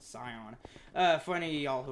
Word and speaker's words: Scion: Scion? I think you're supposed to pronounce it Scion.